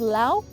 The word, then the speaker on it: Lao: Did you know that it's pronounced Lao?